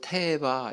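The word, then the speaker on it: תֵּבָה: 상자 상자라고 하는요 단어는 히브리어로 테바 이렇게 발음합니다 한번 따라해 볼까요 뭐라고요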